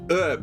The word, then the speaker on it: herb: How about Herb? Because Americans don't pronounce the H in herb.